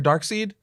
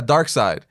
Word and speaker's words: Darkseid: book shop was like oh is this your darksied I'm like because it was one of them